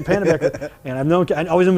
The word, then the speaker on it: Pannebecker: Kevin Pannebecker. I said it right. You did. Got it right, Pannebecker.